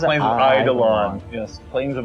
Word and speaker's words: Eidolon: How do you pronounce it? Plains of Eidolon. Yes. Plains of Eidolon.